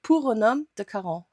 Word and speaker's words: Pour un Homme de Caron: Das Parfum, Pour un homme de Caron. Ja, jetzt könnt ihr nicht meckern, weil das ist richtig ausgesprochen.